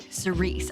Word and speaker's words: Cerise: Cerise. Okay, I got it. It's not Sarah.